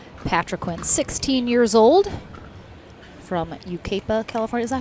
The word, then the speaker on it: Yucaipa: Patriquin, 16 years old, from Yucaipa, California. Is that how you say it? Yucaipa.